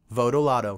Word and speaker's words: Votolato: So after this, let's all just say Votolato, okay? Votolato.